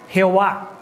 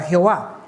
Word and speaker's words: Jehová: Y eso como resultado dio algo parecido a Yahowa o Yahowa, ¿verdad? Conforme pasaron los años, cuando otros cristianos traducían los textos, al no poder pronunciar el hebreo antiguo, tradujeron esta palabra a lo que nosotros conocemos ya de manera muy cercana, la palabra Jehová.